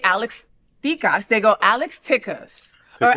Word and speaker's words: Tikas: Or Alex Tikas, or Tikas, right? And I always say it kind of Latino. Is that bad? No, or they go, oh, her. Oh, her, right? But you know, her. Alex Tikas is the right way to say it.